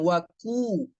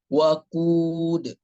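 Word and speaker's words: وقود: Kemudian qafnya, pembacaan qaf jangan waku, tapi waqud, waqu, q-nya ya. Nah, terbiasa mungkin karena itu dhammah qafnya. Nah, kita terbacanya waqud.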